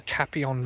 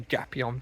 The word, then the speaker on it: Gapyeong: 20,000 men down through the Kapyong Valley, or the Gapyeong Valley, depending on which pronunciation you use, and into the rear of the United Nations forces.